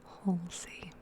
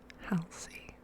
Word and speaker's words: Halsey: I also listened a lot to Halsey. I always thought it was supposed to be pronounced Halsey, and I've like only recently learned that it's meant to be Halsey, so I'm trying to say it right.